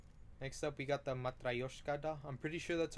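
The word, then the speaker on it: Matryoshka: Um, next up, we got the Matraoska. I'm pretty sure that's how you pronounce it. If not, here I'll show a clip on Google Translate on how you pronounce it. Matrioska.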